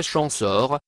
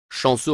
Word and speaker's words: Champsaur: us mort vers 710 champsaur que l'on prononce en français chance hors chansons en occitan vivaro alpin et la